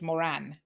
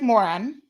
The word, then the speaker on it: Moran: to call him a it's moran m-o-r-a-n not m-r-o-n patrick moran moran not mispronounced the man's name um is the one